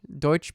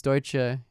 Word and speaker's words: Deutsche: his personal or deutsch deutsche bank people pronounce it dutch in english okay listen cops are